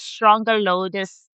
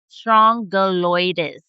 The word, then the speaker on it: Strongyloides: Now, another parasite is Strongyloides stercoralis. I'm going to just spell it for you.